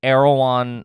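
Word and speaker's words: Erewhon: one really it is spell it e-r-e oh like raya that celebrity h-o-n so it's e-r-e-w-h-r-n arrow on i guess if i'm saying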